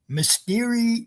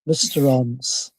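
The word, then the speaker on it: Mysterons: Mysterion mistons. Okay. Mistons threaten bars. Mistons.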